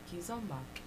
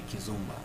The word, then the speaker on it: kizomba: that okay yeah okay most people say kizomba but it's kizomba the zumba which is the zumba fitness right and then there's ki